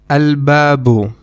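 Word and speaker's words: الباب: Another example is alabu which means the door. In this case, you will also again you will pronounce the lamb alu because ba is one of the moon letters.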